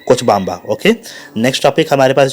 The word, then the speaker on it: Cochabamba: ये कोचबाम्बा है, ध्यान रखिएगा वर्ड्स को, क्योंकि बहुत सारे स्पेलिंग्स में जो है ना प्रोनाउंसिएशन गड़बड़ होती है, इसलिए मैंने इसको बार बार फोकस करना हो रहा है। कोचबाम्बा।